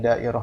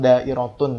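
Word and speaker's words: دائرة: Kita bacanya dairah aja. Atau kalau ada yang nulis ad-dairah, boleh juga. Atau dairatun ya.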